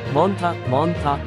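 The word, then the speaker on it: Montha: यदि ऐसा होता है तो इसका नाम मोंथा रखा जाएगा, जिसका उच्चारण मोंथा होगा।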